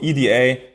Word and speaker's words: EDA: the right pronunciation um yeah Eda com from electronic design automation so we usually go with Eda but I think everybody's saying it differently so Louisa is also fine um if you type